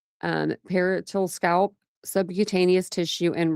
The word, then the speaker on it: parietal: On the left, let me see if I'm saying this right. I hate if I say this like 15 times the wrong way. That would be good. Parietal. See, I was saying it wrong.